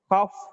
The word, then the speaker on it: cough: Another set of examples: ghost, cough, bow. Look at here. The letters GH is pronounced as G in ghost, F in cough.